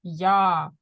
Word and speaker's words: я: We have form я, which is I, я. Let's pronounce this, я.